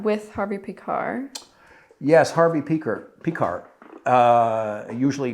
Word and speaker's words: Pekar: on the last syllable picard he used to say after you know if you're on a train after the beer car comes the p car uh typical rv humor